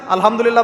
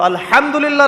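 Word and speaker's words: الحمد لله: আলহামদুলিল্লাহ ভালো আছি। তো আলহামদুলিল্লাহ না বলে সে বলেছে আলহামদুলিল্লাহ। তোযে হা এর উচ্চারণ পরিবর্তন হয়ে গেছে।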